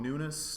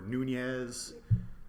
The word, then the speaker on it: Nunes: My name is Nunes. Nunes is spelled Nunes. Ah, okay. And don't get me wrong, like I'm proud to be a Nunes, but it's just one of these fucking names that people always mispronounce, and they have my whole life. Be it teachers taking role, or telemarketers, or stand-up comedy MCs. Yeah. They either say like Nunes or Nunez.